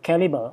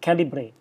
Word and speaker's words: Calibre: It's called Calibre, or some people pronounce it Calibre.